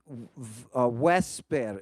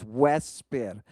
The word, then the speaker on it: vesper: well as by Latin vesper. In classical Latin, it's vesper. That's why you pronounce the U or the V in Latin as a W. Vesper. It's because that's how the digamma is pronounced.